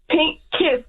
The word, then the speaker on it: PINKKYSS: Yeah, it's Pink Kiss, PINKKYSS.